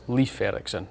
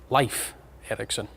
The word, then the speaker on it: Leif Erikson: in trouble with and i would pronounce it uh leif erikson but i'm sure i'm assured with my icelandic colleagues that this should be uh life eriksen um i think we